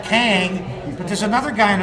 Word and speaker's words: Kang: big surprise you know i think they call him gum but it's spelled kang but there's another guy